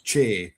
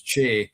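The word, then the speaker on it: Cé: It's about the North Pictish kings, and one of the sons was Che or Chi. It's spelled CE, and it's where we get the name for the hill Benahee.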